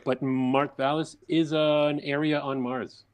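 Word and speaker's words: Mawrth Vallis: But like your book, am I pronouncing it right as Mawrth Valliis? That's how I've always pronounced it. Perfect.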